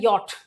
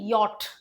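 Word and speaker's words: yacht: Would, if I were rich I would buy अ यॉट, इसको क्या बोलते हैं? इसका प्रोनाउंसिएशन होता है यॉट। याख्त नहीं होता है, याख्ट नहीं होता है, याट नहीं होता है, यॉट।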